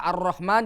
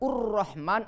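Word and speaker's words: الرحمن: Jadi setiap kalimat al pasti hamzahnya dengan fathah. Tidak boleh ilhamdulillah atau ulhamdulillah. Tidak boleh ur-Rahman atau ir-Rahman.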